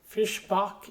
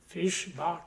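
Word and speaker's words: Fischbach: So, this is I think it's pronounced Fishbach is Fishbach.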